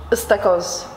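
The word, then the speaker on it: ıstakoz: Istakos.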